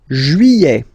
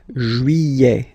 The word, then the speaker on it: juillet: Juillet. Okay, you get this double L here. Yeah. Juillet. Juillet. Don't pronounce this final T, E-T here at the end.